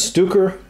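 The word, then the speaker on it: Stöcker: They began business as Stuker and Company. That's spelled S-T-O-C-K-E-R like Stocker, but there is an umlaut over the O, so that's my best stab at that.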